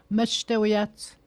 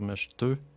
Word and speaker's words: Meshtawiyat: Donc le premier A se prononce comme un E. Mesh, ouais, les voyelles, des fois ils se prononcent pas, des fois ils se prononcent comme un E. Meshtawiyat. Meshtau. Il faut faire attention de ne pas dire meshteu. Parce qu'en français, un E puis un U, c'est un E, mais Meshtawiyat.